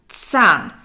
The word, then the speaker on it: Zahn: For English native speakers, the Z is very hard to pronounce in German. So it's not a Z, that's a different letter. It's Z. It's a T and an S together.